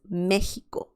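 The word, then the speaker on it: México: mexico or that's the the right pronunciation of mexico is mexico mexico the next one is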